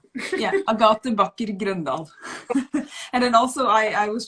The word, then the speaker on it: Agathe Backer Grøndahl: So in Norwegian, I would say Agathe Backer Grøndahl. Yeah. But I repeat, Agathe. You say. Yeah, Agathe Backer Grøndahl.